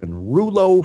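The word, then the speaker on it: rouleaux: coins and that's called Ru with the silent X French pronunciation formation Rulo formation and the reason why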